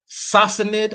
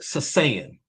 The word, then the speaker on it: Sassanid: There's 2 ways you can pronounce this, right? Sassanid, or sometimes it's Sasanian.